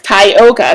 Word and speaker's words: Tyoka: Oh my gosh, first of all, okay, so my full name is pronounced Tokatha, and Tyoka's name is, of course, Tyoka.